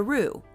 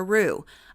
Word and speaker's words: roux: Bacon grease is the traditional foundation for the roux.